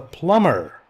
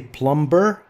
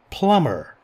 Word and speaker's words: plumber: And we have a plumber. B is silent. Don't say plumber. No, plumber. Plumber.